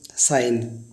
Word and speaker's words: sign: अब गाइज जी कब साइलेंट होता है, तो आपने एग्जांपल सुना साइन, SIGN। देखिए एन से पहले जी आया है तो जी साइलेंट होता है।